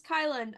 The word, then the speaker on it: Kylin: My name's Kylin, otherwise known as Kyle with an N.